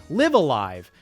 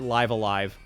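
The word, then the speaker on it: Live A Live: No, it's called, you have to pronounce it Live Alive.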